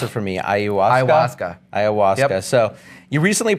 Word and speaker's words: ayahuasca: I think that a lot of members are curious about, and pronounce it for me, ayahuasca?